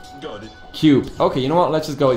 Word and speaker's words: QP: Okay, I got, it's Cube. Man, chat, I just opened chat because of the 5-minute delay. It makes it very difficult for me to see what is the pronunciation, like, coming through from the chat. And everyone's saying Cube.